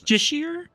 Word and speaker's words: Justiciar: Justiciar? I've always heard it pronounced Justicar.